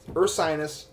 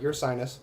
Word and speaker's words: Ursinus: Ursinus, not your sinus.